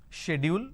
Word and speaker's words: schedule: There are two pronunciations which people usually say. One is schedule. Schedule, we can pronounce this as schedule. Let me change the color so that you can understand. You can either pronounce this as schedule, or some people pronounce this as schedule. So either you say schedule or you say schedule.